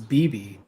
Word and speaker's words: Beibei: but like um when beibei is that how it's pronounced so i looked it up and it was bibi yeah when she was